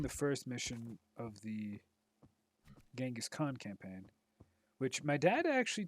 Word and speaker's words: Genghis Khan: first mission of the Genghis Khan campaign which my dad actually told me that uh if you go by the proper pronunciations actually uh would be chingas Han which is interesting to